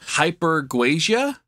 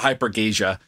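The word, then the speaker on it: hypergeusia: So the authors of these studies go on to suggest that we should stop calling it super tasting and instead call it hypergasia.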